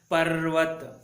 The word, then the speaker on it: पर्वत: उसी प्रकार प जमा र की मात्रा जमा व जमा त पर्वत। हाँ, आधा र और पूरा व मिलकर व, पर्वत, ऐसे आपको सही से उच्चारण करना है, पर्वत।